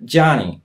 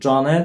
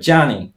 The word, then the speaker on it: Johnny: Jak chcecie poprawnie też mówić jego imię w taki sposób amerykański, to tak zmiękczcie to polskie G. Mówcie Johnny, nie Johnny, tylko Johnny.